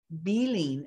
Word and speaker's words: Behling: did have another question you said your name was beeline and i've been saying it's fine either way i think bailing is the more appropriate or the more correct pronunciation yeah bailing dealing i